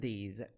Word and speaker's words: these: common errors, those and these. Correcting this mistake will make you sound clearer. We have a tip here. The S in these words pronounced as Z sound. Those, these.